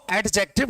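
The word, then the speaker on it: adjective: इसको एडजेक्टिव नहीं पढ़ते मेरे प्यारे बच्चों। इसको एडजेक्टिव ही पढ़ते हैं क्योंकि इसमें डी साइलेंट रहता है।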